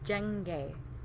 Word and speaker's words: jenge: The next one, say, this is a hard one to pronounce, jenge. Yeah, it's that NG sound again.